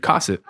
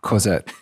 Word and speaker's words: Cosette: Valjean begs Javert to go and retrieve Cosset from the Fernandiers, but Javert only laughs at him.